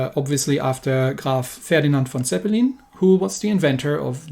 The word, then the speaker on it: Zeppelin: after graph ferdinand von zeppelin who was the inventor of the airship with the same name so in german it's zeppelin not zeppelin but you'll be perfectly